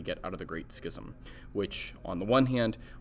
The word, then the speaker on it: schism: first split okay that is called the great schism is how you pronounce this there's a short text that you